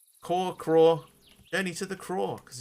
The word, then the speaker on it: crore: So 10 million rupees in Indian currency equals 1 crore is how it is pronounced. So it's like craw, journey to the craw, because you're looking for one specific 10 million thing.